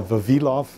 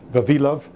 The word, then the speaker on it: Vavilov: as well interestingly uh it's vavilov vavilov and Lenka are the uh the pronun I've heard a a number of different pronunciations but those are the uh those are the correct Russian pronunciations uh what I'm going